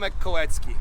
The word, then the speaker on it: Kolecki: Uh Kowetski.